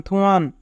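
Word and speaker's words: 투안: থুয়ান ব্যক্তির নাম। থিউত প্রথমে থাকলে থ, উ রাষ্ট্র থু, ইয়ং উপরে থাকলে ইয়ং এর উচ্চারণ হয় না, আ নিয়ন নিচে থাকলে তার আন। থুয়ান। ফেতুনাম ভিয়েতনাম।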